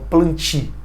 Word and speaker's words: plantae: Se escreve plantae, mas quando a palavra termina com ae no latim, né, se lê com i, então planti, tá?